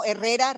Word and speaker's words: Herrera: Herrera. That is what it shows on my request. And I don't pronounce the H, right? Yeah, it is silent.